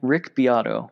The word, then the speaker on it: Rick Beato: Rick Beato, like Beato. Rick Beato. Yeah. Okay. Like Beat-O. Beat-O.